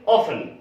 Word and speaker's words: often: बहुत लोग ऑफ्टन बोलते हैं, बहुत लोग उसको ऑफन बोलते हैं, लेकिन यहां हिंदुस्तान में हम लोग उसको टी को साइलेंट करके बोलते हैं ऑफन, और कई जगह लोग ऑफ्टन भी बोलते हैं। तो दोनों ही सही है, लेकिन अगर इंडिया